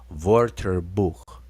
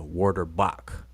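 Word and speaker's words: Wörterbuch: answer is the um vorter book that's how we supposed to be pronouncing it the german w is a v okay just so just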